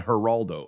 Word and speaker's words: Geraldo: of that it would be less interesting than Heraldo opening a safe uh for those of you